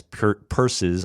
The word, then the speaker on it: Peirce: Peirce's ideas. By the way, if you ever see C.S. Peirce's name spelled, it looks like Pierce, but it's pronounced Peirce, I promise you.